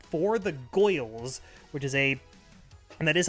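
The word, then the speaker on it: Gworls: I found that's really cool called For the Goyles, which is and that is how you pronounce it, by the way, which is a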